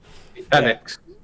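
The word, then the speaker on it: Fenix: Phoenix. Be quiet. That's how you spell it. It is. Well, it is. It's like F-E-N-I-X.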